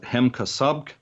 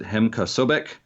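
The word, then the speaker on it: Hem-Ka Sobk: When I was younger and I first read this, I thought it was pronounced Hemkasobk, but I have met a number of people who pronounce it Hemkasobek.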